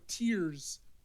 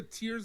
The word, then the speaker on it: Tears: were wondering uh Zelda tears of the kingdom is pronounced like tears of joy so it's crying tears of the Kingdom